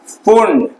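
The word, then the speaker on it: Pfund: ठीक, इससे जो किरणें निकल रही थी, ठीक है, उसको क्या नाम दिया गया, पुंड। पी रहता है स्पेलिंग में, लेकिन पी क्या रहता है, साइलेंट रहता है।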